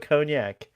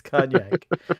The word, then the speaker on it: cognac: You can Mm, put cognac. mm. Thank you, Tara. Tara said it at the same time. It's cognac. It's either cognac or cognac. You say cognac, I say cognac.